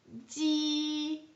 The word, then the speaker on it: ji: actually a J, and it's actually pronounced very similar to the G sound in Jeep.